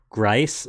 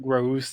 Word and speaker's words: Grouse: We know it's pronounced Grice, but it's actually pronounced grouse.